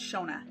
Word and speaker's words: Shona: my name thanks dad my name is pronounced shona s-h-o-n-a or sho-na people often think that